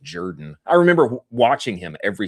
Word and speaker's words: Jordan: Last name looks like Jordan, pronounced Jordan.